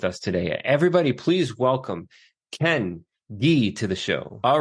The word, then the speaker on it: Ken Gee: I always tell everybody's like I want to pronounce the name the way that it that your mother has says it right so Ken G and I'm sure that you hear it all